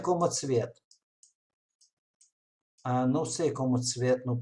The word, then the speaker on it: Tsvet: O nome de professor, Michael, que temos pós-doc no minha grupo, e o nome de família se chama Tsvet, Tsvet, pronúncia como Tsvet.